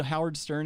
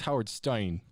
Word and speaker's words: Howard Stein: I've been getting called Howard Stern and Weird Al since I was in like 7th grade. It's Howard Stein.